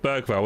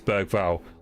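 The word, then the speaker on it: Bergvall: It's just Berg Val, isn't it? Um I've also got quite a few. It is Berg Val.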